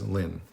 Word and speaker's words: ln: We we call it or we pronounce it as lin.